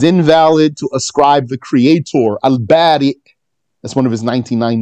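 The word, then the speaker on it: البارئ: So it's spelled now with a hamza on the ya. Al-Bari. You stop on hamza. Al-Bari.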